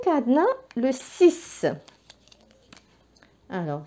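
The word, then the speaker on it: six: وكلمه 6 تنتهي بالاكس، وهذا الاكس ينطق س هنا.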